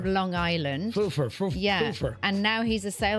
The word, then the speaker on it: Pfeufer: His name is Evan Pfeiffer or Fufer. It's spelled Pfeufer, and he's Pfeiffer. from Long Island. Foofer.